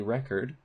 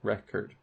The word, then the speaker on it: record: they mean different things so a record has stress on the first syllable so record but record is record has stress on the second syllable so you would never say I'm going to record that you would say I'm